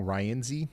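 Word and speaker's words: Rienzi: And I'm guess I've been saying this town name wrong. Ryenzy is how you actually say it. Uh Ryenzy, you guys have have gotten a huge area of wind going by now.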